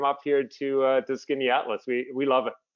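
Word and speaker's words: Skaneateles: stunning absolutely beautiful and skinny atlas looks like it would be spelled s-k-i-n-n-y atlas and it's not it's not even close can you spell it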